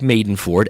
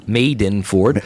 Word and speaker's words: Madenford: you search my name maidenford m-a-d-e-n-f-o-r-d pronounce made in Ford or you can search